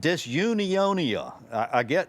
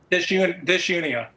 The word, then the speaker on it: Disunia: The first one is Real Solutions, Common Sense Ideas for Solving Our Economy and Pressing Problems, and Disunionia. Did I pronounce that correctly? Disunia. Disunia.